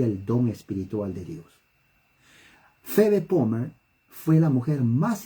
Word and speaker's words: Phoebe: porque voy a escribir su nombre es prácticamente feve ayer hablé de esta de este personaje pero es importante se escribe así en inglés aunque la pila h